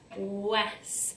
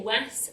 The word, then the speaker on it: was: when we blend this, we can hear the sound it makes or the word it makes when we blend it, but then recognise it's not quite like that. We say it like this. So our sounds are w, as, was, but we don't say was, we say was.